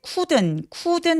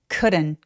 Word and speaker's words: couldn't: 자, I couldn't focus 할 때 couldn't 하면서 우 소리를 내는 게 아니라 우리말 모음 소리 으에 가깝기 때문에 couldn't 그리고 D는 굴려서 발음해 주세요.